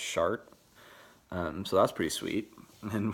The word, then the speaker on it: Chartres: Chartres, which is, yeah, like it's spelled Charters or something or whatever, Chartres, but it's pronounced Chart.